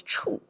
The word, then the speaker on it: 矗: Somehow together, it becomes lofty and pronounced as 处.